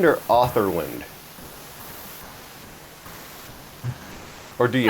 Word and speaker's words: Otherland: Is your last name pronounced Otherland or Otherland? Or do you? Otherland. Otherland. That's what I thought. Just like other and land.